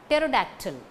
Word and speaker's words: pterodactyl: Pterodactyl, P-T-E-R-O-D-A-C-T-Y-L. It is to be pronounced as pterodactyl. First P is silent.